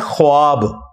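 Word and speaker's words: خواب: लफ्ज लिखने में है ख्वाब ख व अलिफ बा लेकिन पढ़ने में यह खवाब है व साइलेंट हो जाता है ख्वाब पढ़ा जाता है यह लफ्ज उर्दू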